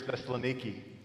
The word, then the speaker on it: Thessaloniki: 17 Paul is in thessalonica or as they pronounce it in Greece Thessaloniki also goes to Berea